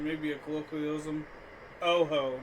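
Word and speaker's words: Ho-Oh: mispronunciation maybe a colloquialism Oho not hoo ow really yeah it's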